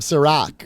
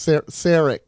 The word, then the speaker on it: Sarek: He called him Serac or something. I don't remember that. Sarek. Sarek.